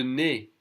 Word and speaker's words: nez: Le nez, the easiest pronounced E, so we don't say the Z.